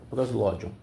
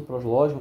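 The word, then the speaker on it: Proslogion: Eu acho que se pronuncia assim, prosló.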